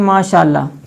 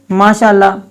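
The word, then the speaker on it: ماشاءاللہ: जैसे आपने सुना होगा, लोग कहते हैं माशाअल्लाह। अब माशाअल्लाह जो है वो दुरुस्त नहीं है, तो इसकी सही प्रोनाउंसिएशन करनी है, सही तलफ़्फ़ुज़ के साथ उसको अदा करना है। उसको कैसे पढ़ना है? माशाअल्लाह, माशाअल्लाह, इस अंदाज के साथ इसको अदा करेंगे।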